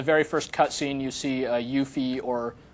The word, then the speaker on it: Yuffie: Very early on, in the very first cutscene, you see Yuffie or Yuffie, depending on how you want to pronounce her name.